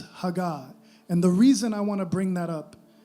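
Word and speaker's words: הגה: And that word meditate, in Hebrew it's a word, I may mispronounce this, but I believe it's hagah.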